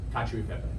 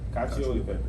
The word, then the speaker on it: cacio e pepe: How do you pronounce it? Cacio e pepe. Cacio e pepe.